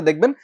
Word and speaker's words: দুঃখ: যেমন ধরেন আমাকে এই যে দুঃখ শব্দটা বললাম এই দুঃখের খটা হচ্ছে মহাপ্রাণ ধ্বনি। যেহেতু এইটা দিতে হচ্ছে তাহলে এর আগের যে ক ছিল সে ক সহ আমার উচ্চারণ আসবে।